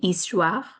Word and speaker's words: histoire: of these new words, like H in histoire is silent, oie like in histoire, ou like in cours, un like in matin.